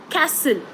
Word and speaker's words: castle: um another example is castle castle so c a s t l e Castle T is silent okay uh more example